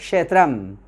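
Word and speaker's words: ক্ষেত্রম্: আমরা বাংলায় ক্ষেত্র, ক্ষেত্র কথাটা সংস্কৃতে উচ্চারণটা হবে ক্ষেত্রাম।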